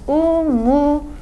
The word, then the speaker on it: umudun: word for hope "umut" That "t" is going to undergo consonant alternation with "d" when we add a suffix that begins with a vowel, so "Umut" become "umudun": your hope With our final